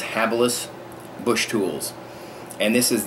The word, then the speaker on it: Habilis: myself i was mispronouncing it before but it's pronounced habilis bush tools and this is the habilis trap